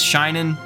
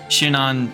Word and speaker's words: Shinon: And I say his name as Shinin. I know that's probably jarring to hear that. It's hard for me to switch. I've called him that for so long. Shinon, Shinin, Shinon, I've even heard.